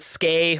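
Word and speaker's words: Skai: And remember, Dominion's vessel is named Sky. I would get the cat, but but I think Brandon pronounces it Skay, which thumbs down.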